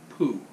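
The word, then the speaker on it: πού: It's a Greek word, and it's pronounced poo.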